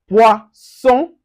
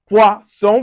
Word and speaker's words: poisson: Now, an example, we have poisson, poisson with the S. Now we have poison with the Z.